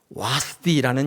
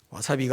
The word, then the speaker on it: 와스디: 오늘 우리 에스더 4장인데 에스더 1장에 가보시면 와스디라는 여인이 나와요. 와스디 발음, 와사비가 아니라 와스디인데 이 여인은 에스더가 되기 이전의 왕후였어요.